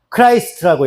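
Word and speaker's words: Christ: 영어로는 어떻게 읽냐면 크라이스트라고 읽어요. 크라이스트. 비포 크라이스트. 들어봤죠? 크라이스트라고 읽는다고.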